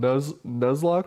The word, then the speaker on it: Nuzlocke: this thing that competitive Pokemon players do called Nuzlocke runs is that how you say it Nicole